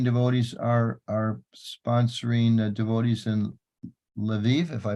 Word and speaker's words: Lviv: that the Canadian devotees are sponsoring devotees in Lviv, if I pronounced it correctly. Yes, Lviv.